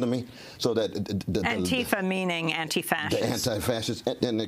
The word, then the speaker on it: antifa: yes well it's pronounced antifa the the emphasis is on the first uh syllable and it's pronounced more on than and so antifa it's commonly mispronounced but